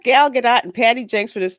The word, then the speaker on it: Gal Gadot: You guys are mispronouncing Gal Gadot's name.